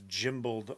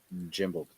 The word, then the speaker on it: gimbaled: The guy says it has gimbaled arms instead of gimbaled. Jimbled.